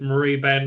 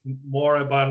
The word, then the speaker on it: Moribund: bond right Zoe but everyone said that Murray Ben right like not it's moribund Rick is the IRA pronunciation I'd rather say go